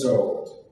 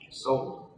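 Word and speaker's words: Szold: Next, Henrietta Zold. Sold. No, The S is pronounced as an S in Sold?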